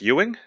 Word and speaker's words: Ewing: E and uh I want to say it's Ewing ew ing so you guys pronounce that Ewing a hell off I know